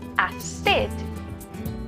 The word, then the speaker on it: acid: But we also make use of the soft C sound in acid, making that S sound.